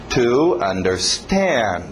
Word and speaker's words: understand: Cuidado com o ritmo. To understand. To understand. Batendo no final.